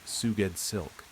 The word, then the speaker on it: Sgouedslk: Sgouedslk, pronounced Suged Silk.